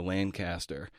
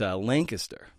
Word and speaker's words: Lancaster: All right, I grew up pronouncing Lancaster, Pennsylvania, Lancaster. It's Lancaster.